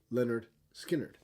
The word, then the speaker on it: Lynyrd Skynyrd: August 13th 1973 debut album by Lynyrd Skynyrd pronounced Leonard skinnard you may say to yourself well hey was